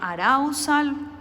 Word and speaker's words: arousal: de un concepto que se llama arau sal o se escribe así arousal es un término hipotético